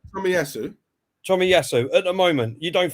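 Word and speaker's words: Tomiyasu: had are they what so you don't think tommy sue you uh tommy i just pronounced his name yes tommy yasso at the moment you don't think he's he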